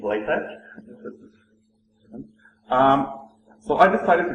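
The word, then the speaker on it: LaTeX: couple all right uh no it's not pronounced leex it's lat um so I decided to go with latc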